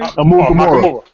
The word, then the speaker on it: Amukamara: Amukamara.